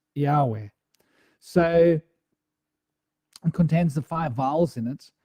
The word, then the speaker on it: Yahweh: When you pronounce it, you don't pronounce the consonants, you pronounce the vowels. So the 5 vowels, and that's how it was pronounced, the E, A, R, U, E, right?